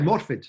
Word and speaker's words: Morfydd: yeah, Morfydd.